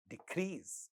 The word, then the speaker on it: decrease: But when it is used as a noun and the first syllable is stressed, then same sound ka at the initial position of a non-stressed syllable is not getting aspirated. So, this word sounds like decrease, decrease.